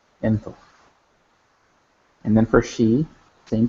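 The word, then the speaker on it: ⲛ̀ⲑⲟϥ: So the masculine, for he, you have jinkim, ne, theta, o, and fi, enthof, enthof.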